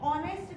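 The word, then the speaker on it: honest: mister Sharma is, अब देखो फिर मैंने बोला अभी ऑनेस्ट, एच से स्टार्ट होने के बावजूद भी हम प्रोनाउंसिएशन क्या कर रहे हैं, ऑनेस्ट का कर रहे हैं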